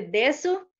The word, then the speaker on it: desu: Pero casi siempre la I y la U la pronuncian muy poco, digamos, con ese des, que se dice desu, casi siempre, ¿verdad?